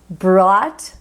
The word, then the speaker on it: brought: aqui é de ouro a pronúncia é simplesmente o t para todo mundo apenas isso é só escrita que